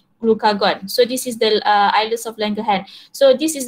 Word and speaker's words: islets: we call it as islets of Langerhans, bukan islet, eh? We do not pronounce it as islet, islets.